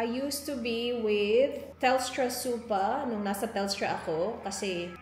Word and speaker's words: super: talking about supa superannuation supa kasi yung pagpronounce nila dito but it's super It's a retirement fund